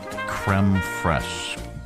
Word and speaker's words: crème fraîche: How to pronounce. Okay. Creme fraiche.